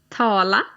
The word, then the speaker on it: tala: "Tala". - "Tala". - "Prata". - "Prata". Now both "tala" and "prata" have got two 'a's in them but the second 'a' is a little shorter.